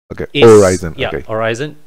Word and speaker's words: Horizon: horizon and evil malaysia horizon is the pronounced without the h horizon that is what we